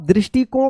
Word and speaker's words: दृष्टिकोण: तो आप दृष्टिकोण का देखिए द में ऋ की मात्रा। आधा पेट कट सा दृष्टि कोण क्या है? यह दृष्टि कोण हो गया। तो इसको पढ़ेंगे ब्रह्मांड और इसको पढ़ेंगे दृष्टि कोण।